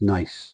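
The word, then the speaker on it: Naas: loads of times and I know that NAS isn't pronounced Nars it's Nace I believe encountered killed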